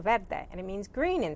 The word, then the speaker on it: Verde: verde architecture consulting and you pronounce verde just like salsa verde and it means green